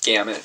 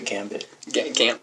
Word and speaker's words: gamut: Most people say gambit. Gambit. Yeah. Which is wrong. Gamut. No, you said it right. I hear it a lot. People say gambit instead of gamut.